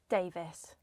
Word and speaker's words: Davies: And the mistakes and radio presenters who might be saying it wrong, how do we say your last name? Davis. Davis. Yeah. Like Mavis, Playvis, Bravest. Um, all of which do not have an E.